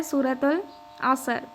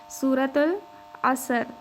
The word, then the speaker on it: سورۃ العصر: سورۃ العصر، سورۃ العصر، سورۃ العصر، درست تلفظ کے ساتھ، ٹھیک ہے۔ ہم نے جلدی